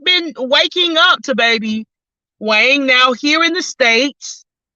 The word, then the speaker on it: Hoang: I can't sleep on baby Wang, and I am not, well, that's just the way it's pronounced. YouTube told me to pronounce it as wine, but you see it's spelled differently. So just letting you know.